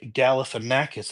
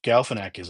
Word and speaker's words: Galifianakis: But in an interview with Zach Galifianakis, is that how you say it? Gal in a cat piss, cuddle with an actress, snuggle with a cat, whatever it is. Zach Galifianakis, I think I said it right.